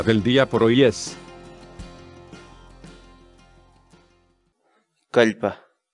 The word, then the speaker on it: kallpa: de videos en la que te enseñamos a pronunciar algunas palabras en quechua. Así que nuestra palabra del día por hoy es... Calpa. Calpa.